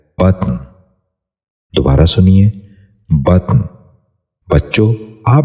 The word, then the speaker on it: بطن: غور سے سنیے، بلند۔ دوسرا لفظ ہے بطن۔ یہ غلط تلفظ ہے، اس لفظ کا درست تلفظ ہے بطن۔ دوبارہ سنیے، بطن۔ بچوں